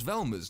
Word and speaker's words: Velma: This is all covered in a news report during which the reporter butchers Velma's name. Say my name. Vermin Dorkley.